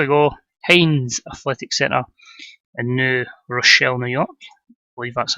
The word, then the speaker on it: New Rochelle: point six so your Hanes Athletic Center and New Rochelle New York we've that's how it's pronounced let's crack on so Mike Foley in